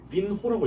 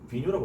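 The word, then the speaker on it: vinho: 그래서 똑같은 이유로 앞에 빈호라고 읽지 않고 비뉴라고 읽었죠. 비뉴. h가 붙었기 때문에 아무튼 그렇게 생각하시면 될 것 같습니다.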